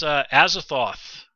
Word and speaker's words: Azathoth: Oh yeah, that's Azathoth.